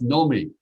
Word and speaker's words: Naomi: you know which uh americans don't know how to pronounce it correctly it's nomi and how many groups do